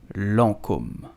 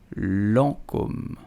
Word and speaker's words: Lancôme: So how do you pronounce it? You will simply say Lancôme. Lancôme. Lancôme. Lancôme.